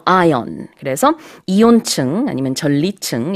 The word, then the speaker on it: ion: 분해되는 그런 현상을 말하잖아요 근데 이혼의 영어 발음은 아이언 입니다 이 올 아니고요 아이온 그래서 이온 층은 아니면